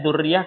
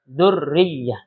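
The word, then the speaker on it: ذرية: Ini banyak orang baca zuriah kadang-kadang salah. Bacanya zuriyah. Padahal rnya tasydid, ya tasdid zurriyah.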